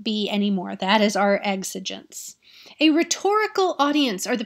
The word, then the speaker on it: exigence: part of context right that's the rhetorical situation exigence that's how that word is pronounced the e is silent exigence is an